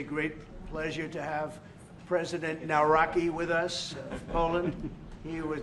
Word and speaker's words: Nawrocki: It's a great pleasure to have President Naraki with us, Poland.